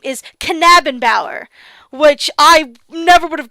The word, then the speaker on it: Knabenbauer: correct myself and say his last name is not Nabenbauer, it's Knabenbauer.